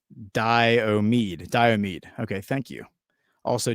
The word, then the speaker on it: Diomede: The AKRU boundary islands are pronounced Diomede.